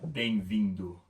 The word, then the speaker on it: bem-vindo: Bem-vindo.